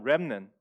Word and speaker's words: remnant: 근데 영어로 하면 remnant. T가 없어요. T를 발음 안 해요.